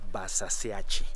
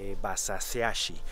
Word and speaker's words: Basaseachi: a la cascada de basaseachi o como los chihuahuenses dicen basaseachi porque pues ellos pronuncian la h como como si eso es lo